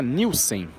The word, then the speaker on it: Nielson: mas de fato os Nilson são os News são os News É engraçado porque uma vez lá em Joinville falaram que na verdade não se pronuncia Nilson você pronuncia nilsen né se escreve Nielson